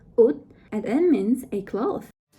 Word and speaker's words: 옷: It's pronounced 옷, and it means a cloth.